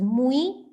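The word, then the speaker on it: মুই: It's pronounced as Mui.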